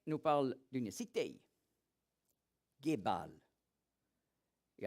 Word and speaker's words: Gebal: Aujourd'hui, on prononce aussi Jibal en arabe.